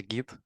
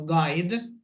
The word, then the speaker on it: guide: Мне прям в уши врезалась гид. Фонетическая ошибка. Произносим guide.